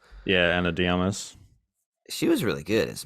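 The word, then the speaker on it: Ana de Armas: Anna de Armas. Yeah. Anna Diamas.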